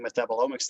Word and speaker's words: metabolomics: to human health using metabolomics techniques cool can you briefly describe what uh metabol metabolics wow i can't even pronounce it properly metabolomics yes like what that